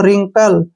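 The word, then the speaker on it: wrinkle: देंगे इसको पढ़ेंगे हम रिंकल क्या करेंगे रिंकल तो यहां पर एक चीज कॉमन है कि डब्लू से आर से पहले डब्लू आया है तो डब्लू वहां पर साइलेंट रहेगा रंग राइट रैपर रिंकल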